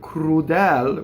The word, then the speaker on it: crudel: Okay, so two closed E's. Now, this does not rhyme with the word crudel, which has an open E at the end. So always remember that, right? Fedel, crudel.